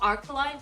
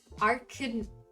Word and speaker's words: Arcanine: I know it's not Arcaline, but I can't fucking pronounce it. It's Arcanine, I think.